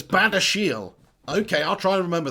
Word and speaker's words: Badiashile: So it's Badiashile.